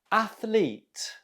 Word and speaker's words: athlete: you say this word athlete athlete how did you do the stress is on the first syllable athlete okay number two how